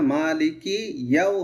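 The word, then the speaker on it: مالك يوم: মালিকিয়াউমিদ্দিন, কিয়াও বলি আমরা, এটা কিয়াও হবে না, মালিকি ইয়াও হবে।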